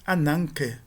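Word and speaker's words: ἀνάγκη: E nós temos o gama de novo aqui, sendo seguido por um kappa, que é uma gutural. Então, de novo aqui, ele vai ter o valor de uma nasal gutural e não de uma oclusiva gutural.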